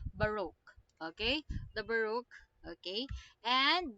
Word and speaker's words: Baroque: therefore we conclude that it is Baruch okay it's not but okay okay not like that okay the pronunciation is Baroque okay the Baroque okay